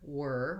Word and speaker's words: whir: That one is the same pronunciation as this word whir, which means to whirl around and whirl. And so it has the sound. So again, to build whir, I would just say whir.